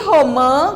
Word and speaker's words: romã: E romã, o que é romã? Olha só, já mudou na pronúncia, porque agora eu coloquei o tio aqui em cima do A. Romã.